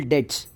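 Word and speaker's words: debts: provision पर बेड और doubtful डेट्स डेट्स बढ़ते हैं बट बी साइलेंट होता है उनके लिए नहीं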